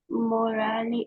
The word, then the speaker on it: morale: However, we are staying warm and the morale is still good. So visibility, Visibility, visibility. visibility, Não há visibility. visibility, Very good. And morale. morale, Yeah. We don't pronounce the E in the end.